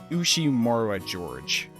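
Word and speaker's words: Ushiromiya George: His name is pronounced Ushimura George.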